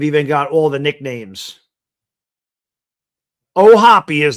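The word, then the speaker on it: O'Hoppe: Do you pronounce the E or is it just oh hop? He's Irish. He would know this. This guy's got an Irish name. Anything with O in front of it, right? Like anything that ends in a vowel is Italian. Pitch fouls at the plate. One and two. Oh, Hoppy. Thank you. You do pronounce the Oh, Hoppy.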